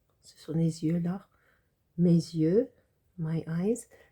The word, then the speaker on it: les yeux: end of les, but in front of the Y, it kind of functions like a vowel, so you make a liaison, les yeux.